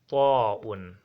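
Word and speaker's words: طاء: After this we have ta'un. Ta'un, look at it. Ta'un is not da, wrong. Is ta, is as ta, but you should enlarge your mouth if you are to pronounce it.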